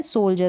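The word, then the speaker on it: soldier: अब ये जो डी है और उसके बाद क्या आ रहा है, आई ई आर आ रहा है ना, ये वाला एंड में यहाँ पर। तो इस तरीके से यहाँ पर डी को आप ज प्रोनाउंस कर रहे हैं।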